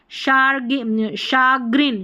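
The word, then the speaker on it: chagrin: Brochure, ये है शाग्रिन, शाग्रिन है, ठीक है, शाग्रिन है। शैम्पेन है, ये है शैंडिलियर। देखिए स्पेलिंग अटपटी सी है, कुछ एक स्पेलिंग काम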